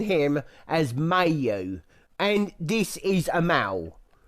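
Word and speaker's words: Myau: And he goes, that meow is my name, or meow's my name. So yeah, he's pronounced meow, but I will be pronouncing it as Mayo.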